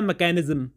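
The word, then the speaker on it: mechanism: अब ये दोनों वर्ड्स मैंने आपके सामने रखे, अगर आप ध्यान से देखो तो दोनों की स्पेलिंग में CH आ रहा है, लेकिन मशीन के केस में ये CH श साउंड को प्रोड्यूस कर रहा है, और मैकेनिज्म के केस में यही CH क साउंड को प्रोड्यूस कर रहा है।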